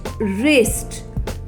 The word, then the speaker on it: wrist: spelling of wrist is w-r-i-s-t wrist students do you know the sound of w it's va but here w has no sound so we will call it silent letter it's wrist w in